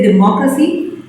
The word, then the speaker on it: democracy: sliver which resistance so when we say democracy then then mo is stressed all the other syllables